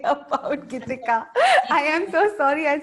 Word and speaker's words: Gitika: My name rhymes with Nidhika, Gitika, Nidhika. So every time the others are trying to connect with you, I'm like, yeah. So I'm Gitika.